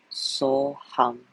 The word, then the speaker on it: So Hum: The yogic mantra So Hum, so the first syllable is So, S-O, the second is Hum, H-U-M, So Hum.